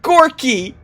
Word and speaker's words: Gorky: Sacred Gorky! Sacred Gorky. I love Gorky. His name rhymes with dorky, which is a perfect description of him.